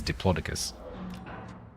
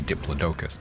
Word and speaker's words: Diplodocus: say No, I think the the normal scientific pronunciation is diploicus, but in the UK we say diplodocus because it's been in um you know like movies and TV and stuff for a long long time as diplodocus and so we say